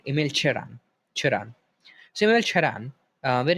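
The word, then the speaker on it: Emil Cioran: So it's Emil Chiron in a Romanian accent. Emil Chiron.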